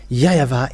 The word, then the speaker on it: YAHVAH: So here it is really seen, the W is really V, but it's the Western who changed it into Wu.